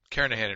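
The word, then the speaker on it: Kernighan: Kahan I should say the g is silent karahan and Richie C programming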